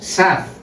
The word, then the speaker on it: Saz: de nuestra investigación, que los apellidos Saz y Sacedo son San y Salcedo, pero que la pronunciación primera como más suave ha prevalecido. Quiere decir que pues por serían san, pero la gente oía SAZ y todo el mundo decía ya saz S, saz.